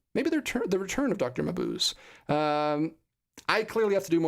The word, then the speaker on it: Mabuse: Mabuse. Carrie Witt says it's Mabuse. Mabuse.